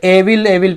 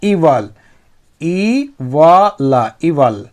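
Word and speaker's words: evil: with you द इवल बहुत लोग इसे एविल एविल पते हैं ना लेकिन वह गलत उच्चारण है इसका शुद्ध उच्चारण क्या है इवल इ व ल इवल ठीक इवल मतलब होता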